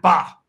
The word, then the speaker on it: Bae: Get those little hand emojis going on for Matt Bae here. He deserves Matt Ba. It's Ba, actually. I'm mispronouncing his name.